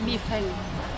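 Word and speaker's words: 米饭: I think rice, if you want to say rice, it's mi feng.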